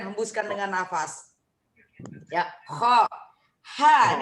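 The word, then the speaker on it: ح: Ha, ini ha pedas. Enggak ada titiknya. Ha biasa. Ha, kayak orang pedas. Ha pedas namanya kalau saya bilang dulu. Ha tipis ya.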